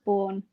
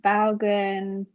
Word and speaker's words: Baughan: this all the time don't worry it's actually pronounced born it's really easy thought so complicated i thought so i did think so i get like bowgun honestly let's go with it now yeah i